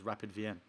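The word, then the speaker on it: Rapid Wien: because w well no because w in german and what austrian they speak german or the similar language the w is a v you pronounce it v so that is rapidvienne i'll be there that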